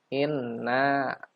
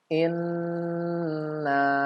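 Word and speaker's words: إنّا: adalah yang pertama adalah nun gunnah di kata inna, tidak di gunnah, tidak ditahan 3 harokat. Ya, biasanya yang ada yang membaca inna, ya, gitu aja. Padahal dibacanya karena ini nun bertasydid maka harus gunnah, langsung disambut dengan mat. Ya.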